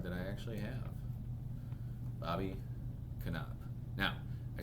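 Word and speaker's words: Knoop: This one I actually looked up, and Knopp is correct. Bobby Knopp. It looks like Noop, but it's Knopp.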